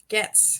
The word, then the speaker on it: Goetz: So pretend there's no O. Oh, that's right. Want to try it? Goetz.